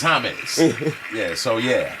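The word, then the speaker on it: Jaime: Jamie Jamie hate he it's spelled like that though you known it was a name like that I would have known put the silent on my name in Spanish is hame yeah so yeah H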